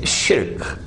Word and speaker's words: shirk: recognize that as shirk please change your pronunciation it's shirk in english is called